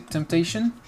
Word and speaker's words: temptation: est tentée donc un an le nom c'est temptation tentation vous voyez que j'insiste sur le missile accent tonique sur le temptation c'est les sept syllabes